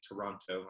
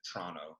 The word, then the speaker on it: Toronto: Toronto, I should say. And because people from Toronto pronounce it Toronto, T-R-A-N-N-O.